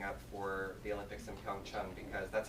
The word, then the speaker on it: PyeongChang: But we're really excited, and we're gearing up for the Olympics in PyeongChang, because that's how they're pronouncing it, by the way.